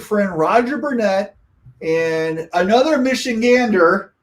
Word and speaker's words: Michigander: And we have a special guest today, which is our good friend Roger Burnett and another Michigander, right? Did I pronounce that right? Michigander? Michigander, absolutely.